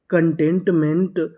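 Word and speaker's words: contentment: मिले तो हम लोग सी ओ एन को पढ़ते हैं कन क्या पढ़ते हैं कन तो हमारी मीनिंग क्या बनी कन टी इ एन T tent M ई एन टीमेंट कंटेंटमेंट कंटेंटमेंट कंटेंटमेंट का मतलब होता है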